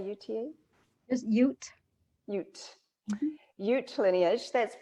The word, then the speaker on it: Ute: Just Ute.